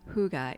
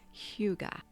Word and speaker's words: hygge: It's not hygge, it's hygge.